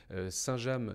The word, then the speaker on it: Saint-James: fait cent trente ans on dit saint-james sans prononcer le s final alors ce qui caractérise notre histoire c'est que pendant le moyen âge et jusqu'au milieu du 19e siècle saint-james village était composée de